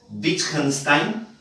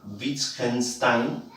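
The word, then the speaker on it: Wittgenstein: Ya este señor eh se pronuncia su apellido Witchenstein, ¿ya? Witchenstein y se escribe Whtenstein.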